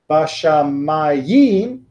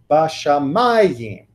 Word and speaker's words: bashamayim: Bashamayim, that would be my instinct, if I didn't know Hebrew better, to go on the last syllable. But the meteg moves me back and says Bashamayim. And now I'm putting it in the right spot, right?